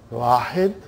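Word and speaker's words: واحد: The way they pronounce, it will be, they won't say Wahidun. They'll say Wahid.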